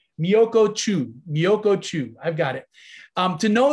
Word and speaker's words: Miyoko Chu: like Michio Chu Miyokuku, I can never say her name right. I always get the wrong K and CH sound. Miyoko Chu, I've got it.